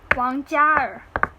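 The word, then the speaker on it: 王嘉尔: So his Chinese name is Wang Jiaer.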